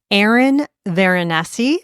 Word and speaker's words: Eryn Veronesi: to spread some Hudson Valley holiday food Joy Aaron venessi is that the correct pronunciation yep I did it yay Aaron vessi